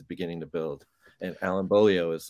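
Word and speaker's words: Beaulieu: Bolio. Is that how you say it?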